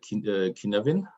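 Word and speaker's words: Cynefin: So in a sense, do you know the Kinevin framework? I think it's spelled as Signfin, but it's like I think it's Welsh for Kinevin.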